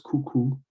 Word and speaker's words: coucou: Um, the next one is coucou. So like I said, with the O and the U, that is pronounced oo.